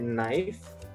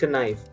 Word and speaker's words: knife: So if you look at knife, it's not knife, it's knife, because there's a K followed by N at the beginning of the word.